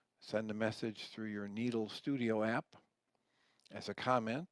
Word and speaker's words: Nedl: and you type in the word needle n DL with a long e sound a couple options show